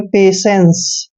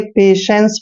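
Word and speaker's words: patience: एन सी ई दोस्तों जब भी टी आई ई तीनों लेटर इकट्ठे आते हैं तो इसका उच्चारण हम श करते हैं इसलिए इसको पढ़ेंगे हम पेशेंस पे सेंस ठीक है ध्यान रखिए पेशेंस पढ़ना है पेशेंस पेशेंस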